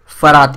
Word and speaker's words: फरात: यहां पर लिखा है ई यू पी एच ए आर टी यस यहां पर ई यू और ई यू जो है वो साइलेंट है तो इसको क्या पढ़ेंगे हम फरात नदी जो है फरात